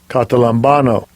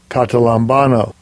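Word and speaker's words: καταλαμβάνω: The pronunciation in the Strong's G. Strong's G 2638, Catalambano. Catalambano.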